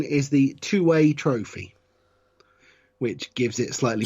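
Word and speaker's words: Tuwaiq: I believe the correct pronunciation is the two-way trophy, which gives it slightly bizarre pornographic overtones. I don't believe you pronounce the Q.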